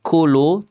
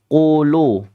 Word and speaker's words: qulu: Qu jangan kulu tapi qulu, bukan kulu. Ya, kalau kulu itu kaf nanti dan adik-adik semuanya akan terjadi lahnun jaliyun ketika membaca dengan cara yang hamas.